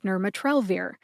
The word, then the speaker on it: nirmatrelvir: to the pronunciation of nurat trir nurat trir has four syllables Nur like Nirvana ma as in Malaysia the country by the way the